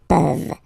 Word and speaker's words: peuvent: Okay, as usual, this ending, this ENT ending, you write it, you don't pronounce it. Okay, peuvent.